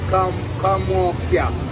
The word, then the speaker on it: Kamocha: Okay, so that one is pronounced Kamocha. Kamocha. Like in Swahili, I would have said Kamokia.